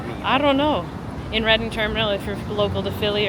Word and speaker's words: Reading Terminal: In Reading Terminal, if you're local to Philly or have ever been to Reading Terminal, which is Reading Terminal, not Reading Terminal, by the way.